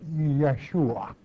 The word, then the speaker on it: Yeshua: it it is you there are no JS in the Hebrew tongue so uh Jesus in that that tongue has to be pronounced Yeshua which it means yah's